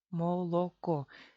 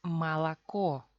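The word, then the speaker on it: молоко: En la sílaba atónica, la vocal O se pronuncia como A. O se pronuncia como A. ¿Por qué y cuándo? Vamos a ver. Cogemos palabra molocó, la leche. Molocó.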